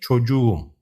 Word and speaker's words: çocuğum: When a word ends with K and receives a suffix starting with a vowel, the K shifts to a soft G to make it easier to pronounce.